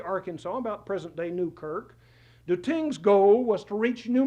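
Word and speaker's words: Tisné: Charles Claude I'm told that T-I-S-N-E in French is pronounced tin.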